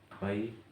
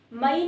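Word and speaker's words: May: अप्रैल होता है अप्रैल मई नहीं होता मे होता है मे जून जुलाई जुलाई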